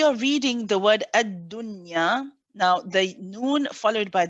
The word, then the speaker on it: dunya: ya you merge it the word dunya is one of the exceptions that you which means that you don't merge it you pronounce the noun nice and clearly okay there are four